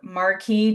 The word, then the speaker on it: Marquis: So you helped build Marquis Jet.